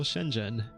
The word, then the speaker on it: Shenzhen: a totally random example Shenzhen how do you say it what's that the H doing in there can you just ignore the H spoiler warning you can't is its own sound in Chinese definitely can't compete on